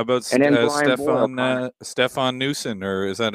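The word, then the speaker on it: Noesen: How about Stefan Newson, or is that how you pronounce his name? He's been tearing it up in December. Nason.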